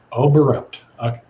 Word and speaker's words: Oberembt: we've got with us paul reed and obront did i say it right i get it i don't think anybody pronounces that name how do you say it overwrite got it that time yep i thought just